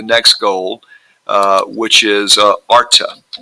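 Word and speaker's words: Artha: on to the next goal uh which is Arta Arta H is silent which means essentially worldly uh success what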